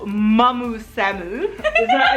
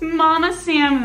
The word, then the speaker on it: Mama Samu: This is, of course, the wonderful Mamu Samu. Did I pronounce that correctly or not? No, how do I pronounce it correctly? It's Mama Samu, because I'm your con mom.